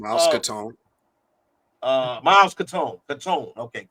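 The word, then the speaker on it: Caton: Miles Katone. Uh Miles Katone. Katone. Okay. Katon. That's how you pronounce it.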